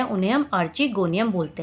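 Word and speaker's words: archegonium: तो मेरे हिसाब से इसे आर्चिगोनियम बोलना चाहिए, इसलिए मैं इसे आर्चिगोनियम बोल रही हूँ। बाकी मैंने कुछ टीचर्स को सुना है वो आर्किगोनियम भी इसे प्रोनाउंसिएट करते हैं।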